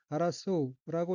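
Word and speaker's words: 争う: 넷째 줄 맨 왼쪽에 어휘는 한자가 다툴 쟁자가 들어있고 일본어로는 아라소우라고 읽으며 아라소우는 다투다, 싸우다, 경쟁하다는 뜻의 타동사입니다.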